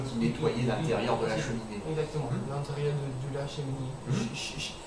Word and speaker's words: cheminée: Ouais, balayer, nettoyer le cheminée. Cheminée. Cheminée. Think about the pronunciation. It's an E, so it's a dull sound.